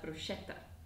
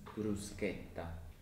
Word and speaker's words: bruschetta: Another word that is very commonly mispronounced is bruschetta, which is often pronounced as bruschetta. Oh yeah, the correct pronunciation is bruschetta.